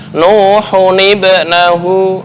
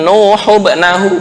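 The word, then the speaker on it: نُوحٌ ابْنَهُ: Nuhun ibnahu, bukan nuhubnahu, bukan, tapi nuhun ibnahu.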